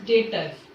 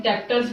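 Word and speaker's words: debtors: Then now 7th point is डेटर्स। अब ये डेटर्स को कोई कोई बच्चे क्या बोलते हैं, डेप्टर्स बोलते हैं। तो ये डेप्टर्स नहीं होता है, डेटर्स होता है, बी इज साइलेंट।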